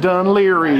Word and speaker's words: Dun Laoghaire: right thank you we have made it to dunleary well hello dunleary I think I already did say hello to you but hello again there we go it's pronounced dunleary y'all this is probably the windy little trail